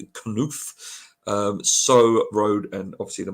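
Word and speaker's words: Knauff: And then you got, I think you pronounce that as Knuf.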